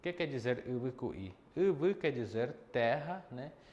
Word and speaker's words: y: Sempre se usa quera, tá bom? Aí nós temos água. Água em Guarani se pronuncia U, letra Y.